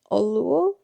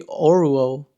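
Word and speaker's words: Oruo: Is it Olu? I I search up online and his name seems to be Oro or what? O R U O. Oro.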